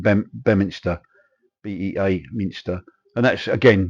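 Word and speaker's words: Beaminster: them um town called it's written be be Minster but I think actually uh locals call it B bminer Bea Minster and that's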